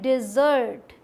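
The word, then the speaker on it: dessert: ना खाने के बाद, इसे बोला जाता है डिज़र्ट, डी, ये साउंड जो है ना डी ई, ये डी का आएगा, ई का साउंड, डी, और यहाँ पे जोर देके बोलेंगे जर्ट, डिज़र्ट, ठीक।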